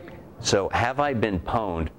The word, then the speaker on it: pwned: Pwn is sort of hacker speak for owned, as in like, oh, I just own this site. And you can't just spell something the way it's spelled, so P-W-N-E-D, pwned.